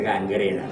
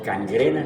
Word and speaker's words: gangrena: Y se escribe gangrena. No cangrena ni cangrina, sino gangrena.